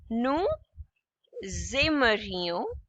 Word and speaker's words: aimerions: Now S and A together. Okay, it would be pronounced as Z. Nous aimerions.